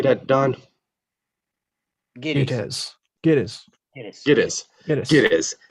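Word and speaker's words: Gittes: Giddies.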